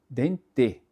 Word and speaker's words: dente: Inclusive, é quando o e se encontra no final de uma palavra, por exemplo, ra, dente, né, a gente só letra dente, só que ninguém fala dente. Meu dente dói, né?